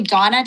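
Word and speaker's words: Dona: Dana. State your name. Oh, sorry. Sorry. Um it's actually Donna. D O N A.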